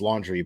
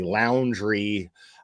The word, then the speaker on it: Laundrie: Yes, I know his name is pronounced Laundrie, but fuck that guy, and I call him and his family Laundrie out of just sheer disrespect.